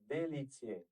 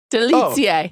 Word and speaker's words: Delicje: First of all, here's how you say it in Bosnian. Delicje. Delicje.